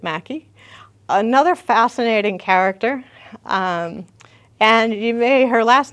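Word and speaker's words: Mackay: she does pronounce it Mackey that's what I have read that it looks like McKay I know but the family apparently pronounced it Mackey another fascinating character and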